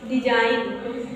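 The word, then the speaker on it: design: उसके पहले क्या आएगा जी आएगा तो साइलेंट होता है जैसे डिजाइन डिजाइन जैसे डिजाइन पढ़ोगे डी ई जी आई एन ई आप ऐसे तो लिख दोगे बाराखड़ी के हिसाब से डिजाइन की स्पेलिंग लेकिन आपकी रंग हो जाएगी डिजाइन की स्पेलिंग क्या हो जाएगी डी ई एस आई जी एन डिजाइन okay रिजाइन रिजाइन करना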